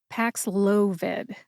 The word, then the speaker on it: Paxlovid: you get PX loid emphasize the second syllable which is low now when I say it fast you don't really hear the emphasis packs loid but that is the syllable that you emphasize see if you can